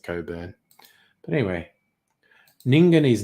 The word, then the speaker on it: Cockburn: It's a place called Cockburn, which I'm sure they pronounce Coburn, because people with a name spelt that way always pronounce it Coburn.